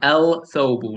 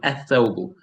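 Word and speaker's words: الثوب: I am not saying el thobu. No. Do not say it like that. You say athobu.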